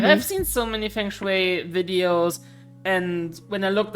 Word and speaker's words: Feng Shui: So it's not that I don't believe necessarily in how it's pronounced. Please help me out. Feng Shui. Feng Shui.